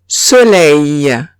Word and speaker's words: soleil: Si tengo E-I-L al final de la palabra, se pronunciaría EI. Ejemplo, soleil. Soleil.